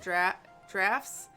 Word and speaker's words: draughts: I think Brits pronounce it drafts, and it's a checkers thing.